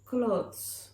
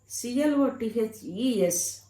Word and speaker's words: clothes: ఇక్కడ క్లోత్స్. CLOTH క్లాత్ అనాలి. CLOTHEని క్లోత్ అనాలి. CLOTHES క్లోత్స్ అనాలి.